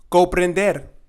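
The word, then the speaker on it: comprender: coprender means to understand and here you have to be very careful with the r and not say co-prin but it's a little bit of the Rolex and not coprim ofreser ofreser means to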